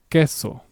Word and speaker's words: queso: The letter Q in Spanish is practically the same sound as a letter K.